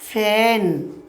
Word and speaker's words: feign: বলছে FEIGN, উচ্চারণ আমরা কী করবো? ফ্যান মানে হচ্ছে কি?